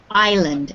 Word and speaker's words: island: right very good yes even though there is an s in this word usually when we have i s l in english we do not pronounce the s so this word is pronounced island everybody should say island